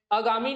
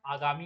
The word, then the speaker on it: आगामी: तो देखते हैं इसमें, अगामी नहीं होता, क्या होता है, आगामी होता है।